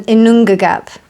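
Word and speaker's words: Ginnungagap: Um, Inongagap, that's how you pronounce it.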